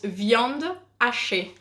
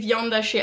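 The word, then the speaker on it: viande hachée: be obviously in English in French it's vyond Ashi and we don't say buff ashay we say vyanda she as in mince meat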